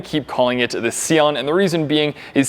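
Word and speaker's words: Sián: easiest thing to do when i said google translate to italian it says sian however in english it pronounces it sean and even though i'm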